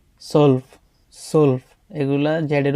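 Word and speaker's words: zwölf: জেক্স জিভেন আত নয়েন জেন সেন সলফ সলফ এগুলা জেডের উচ্চারণগুলা যে এর মত হয় না স এর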